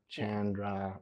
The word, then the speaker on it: Chandra: we are going to confirm it is Chandra, right? Yeah, you bet. And I like to say it like it's like Jackie Chan, you know. Jackie Chan, Chandra.